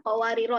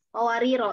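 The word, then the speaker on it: قَوَارِيرَا: Qawariro, ini ro ya, jangan kayak waw nih. Ro ya, qawariro. Di huruf setelah ro ada alif, alifnya ada bulatan kecil ya. Nah, di sini ketika ibu wakaf maka otomatis alifnya hilang. Ketika wasol pun begitu. Jadi ketika ibu baca di surat Al-Insan ayat 16, qawariro min fiddatin qaddaruha taqdira. Qawariro min, langsung, bukan qawariro gitu.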